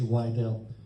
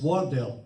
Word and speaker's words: Wardell: don't castigate us uh mr wydell it's wardell but you can call